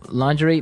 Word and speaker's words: lingerie: And the first one is lingerie. Lingerie. Lingerie. Okay. So, lingerie, this is a nice fancy word. Mhm. Basically for underwear. Right. Right. For women's underwear. Women's underwear. Yeah. So, lingerie, but it's very nice.